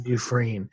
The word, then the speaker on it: Dufresne: is spelled du capital f s NE it's pronounced d but it's DF s n e yes duine her book from empty to overflow um is